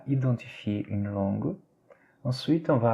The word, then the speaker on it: identifier: Par exemple, on a ici le mot identifier, on écrit avec un EN, donc on serait peut-être censé lire, surtout les Brésiliens, identifier, n'est-ce pas? Mais non, là, ça se lit identifier.